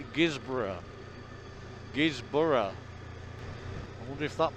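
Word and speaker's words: Guisborough: advert come on and it would say guys bro and i kept saying it's not guys bro it's gizmo but it's how the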